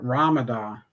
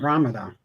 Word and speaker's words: Ramada: and she called it Ramadan. We were staying at the Ramadan Hotel, and it's the Ramada, but she was pronouncing it Ramadan.